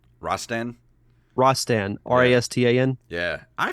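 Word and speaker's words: Rastan: uh shinobi and uh forgive me if i mispronounced this is it uh raston rostan ross stan r-a-s-t-a-n yeah i forgot about that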